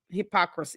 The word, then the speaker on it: hypocrisy: It's It's hypocrisy. It's four syllables.